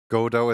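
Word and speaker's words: Godot: Godo is definitely how you would pronounce it.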